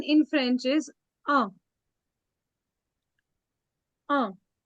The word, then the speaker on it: un: They write it as UN, but they pronounce it as un.